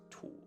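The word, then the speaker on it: 土: It's du for stomach, but that sound component is pronounced tu.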